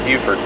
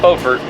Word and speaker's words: Beaufort: So we get an early morning start to Beaufort. Not Beaufort, Beaufort, South Carolina. Spelled the same, different place.